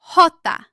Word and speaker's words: Jota: How do you pronounce the name of the Spanish letter J? The answer is Jota.